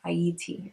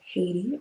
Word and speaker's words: Haiti: French side is called Haiti or Haiti. Uh that's how it's supposed to be pronounced. The H is silent.